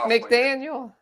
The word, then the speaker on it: McDaniel: You mean Mike McDaniel?